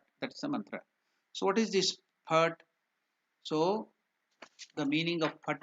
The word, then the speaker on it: Phat: It's not Phat, it is Phat, P-H-A-T, Phat. That's the mantra. So what is this Phat?